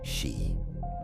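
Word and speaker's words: 四: unlucky in Japanese culture due to its pronunciation, shi, which is the same as the word for death.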